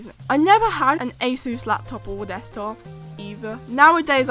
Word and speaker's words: ASUS: So I know it's actually pronounced ASUS.